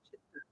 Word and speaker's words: chitta: It's actually chitta, an unaspirated seed. Chitta.